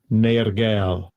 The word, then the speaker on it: Nergal: Nergal.